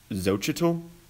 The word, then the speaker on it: Xochitl: I got the chance to interview congressional candidate Xochitl.